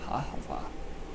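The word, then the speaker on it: אהבה: Ahava. That is how I was taught by an Israelite couple quite a while ago.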